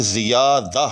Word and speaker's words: زیادہ: چیز دیکھی ہے کہ زیادہ، یاد رکھیے گا کہ اس کے اندر جو یہ ہے ذے کے بعد اور الف سے پہلے یہ متلفظ ہے، یعنی آپ نے زیادہ